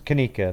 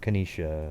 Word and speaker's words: Kanika: say the name alright it's it's kanika not kanesha and all that [